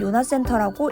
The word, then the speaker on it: 요나센터: 여기 영어로 JONAS라고 되어 있는데 읽을 때는 요나센터라고 읽습니다. 요나센터는 간호대학 전용 실습실로 간호대 2학년부터 본격적인 실습 수업을 할 때 이곳에서 수업을 받게 됩니다.